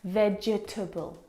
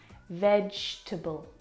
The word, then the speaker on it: vegetable: syllables in this word vegetable but there's not there are three syllables vegetable can you see the syllable that we completely forget the e vegetable we don't pronounce that second syllable vegetable vegetable fantastic I'm going